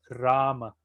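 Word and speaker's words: Rāma: ejemplo la palabra rama la palabra rama en realidad se escribe r con un guión arriba la primera m entonces la provincia ción correcta de rama en rama rama se pronuncia dos veces o tiene dos tiempos la a con un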